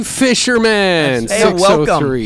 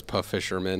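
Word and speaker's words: Pfisherman: for sh up P fisherman3 the p is silent obviously oh is it it's fisherman I thought it was pu Fisher I thought it was pu fisherman as well maybe it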